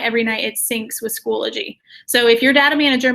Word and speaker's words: Schoology: give a psa that it has one l and not two um so it's not like zoology but it's schoology um just so you